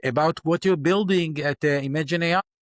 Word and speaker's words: Imagen: But today we are only pronouncing it as Imagen.